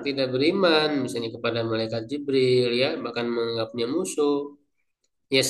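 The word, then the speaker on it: جبريل: Jadi bikasril jimi wa fatiha bila hamzah. ini ee cara pembacaan tadi ya yang saya sebut itu lebih lengkapnya dalam tafsir yang lebih panjang ya di sini diringkas. Jadi, Jibril itu bikasril jim dengan memfatahkan jim berarti Jibril wa fatiha dan ee apa?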